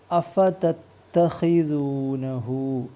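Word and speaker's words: أَفَتَتَّخِذُونَهُ: ശ്രദ്ധിക്കുക പിന്നെ ഉച്ചാരണത്തിൽ വരുന്നില്ല ഈ വാക്ക് പ്രത്യേകം ശ്രദ്ധിക്കുക അല്പം വലിപ്പമുള്ള വാക്കാണ് അ ഫ ത ശബ്ദുള്ള ത ഹി സൂ സു നീട്ടാനുള്ള വാവ് ന ഹു അപ്പൊ എങ്ങനെ വായിക്കും അഫ തത്തഹിനഹു അഫതഹിനഹു ഹു നീട്ടാനുള്ള ഒരു വാ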